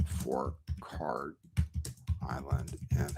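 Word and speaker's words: Kharg: And oh, it ends in a hard G. Okay, so it is Karg. Okay, I've been saying it wrong.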